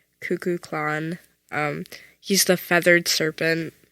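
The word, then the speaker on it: Kukulkan: he's like God no his name is pronounced cuckoo clan um he's The Feathered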